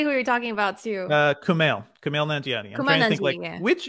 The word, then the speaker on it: Kumail Nanjiani: Kumail Nanjiani. There's three syllables to that name.